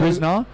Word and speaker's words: Krisner: Is that how you pronounce it? Krisner, yeah. Krisner. Matching his personal best here with 330.